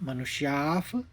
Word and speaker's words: मनुष्याः: और आखिरी चरण यानी चौथे चरण में केवल 3 शब्द हैं, मनुष्याफ विसर्ग लेते हुए हल्का सा फा का उच्चारण निकालेंगे हस्व में, और पार्थ और सर्वशः।